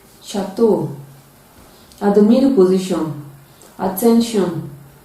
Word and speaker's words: chateau: stage we cannot shoe champagne sheep sheep chevron chateau at the middle position attention prevention caution congratulations